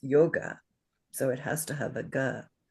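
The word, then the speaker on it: योग: And what do we know about O from the vowel song? It's long. Yes, it's 2 beats, right? So this word would be pronounced yoga, yoga, yoga.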